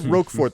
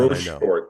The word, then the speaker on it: Rochefort: Now, you said Roquefort the first time. Rochefort or Roquefort? Very important. Rochefort.